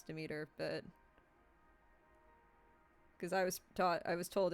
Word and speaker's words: Demeter: I call her Demeter because... yeah. When you say meter, you don't pronounce it meter.